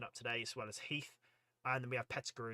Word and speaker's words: Heth: David is saying Heath is definitely pronounced Heath like Ted Heath, 70s UK prime minister.